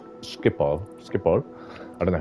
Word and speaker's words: Schiphol: I always used to call it Schipnol, but then I realized there's no N at the end, so I think it's Schiphol.